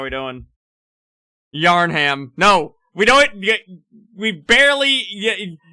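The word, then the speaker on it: Yharnam: in and said, "Hey, why do you pronounce Yarnum really quickly?" Cuz the city in Bloodborne is Yarnham, not Yanomam.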